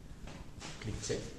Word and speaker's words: cliché: Cliché.